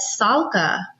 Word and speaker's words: Sallak: people are calling it salaka which it's like I said the a is silent it's actually Sala so I'll have to